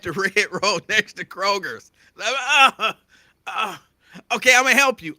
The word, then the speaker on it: Kroger: red Road next to Kroger's okay I'm gonna help you I'm gonna help you but first it's not Kroger's there's no s on Kroger's and it's railroad now